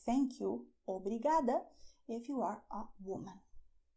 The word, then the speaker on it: obrigada: You say "thank you" "OBRIGADA" if you are a woman.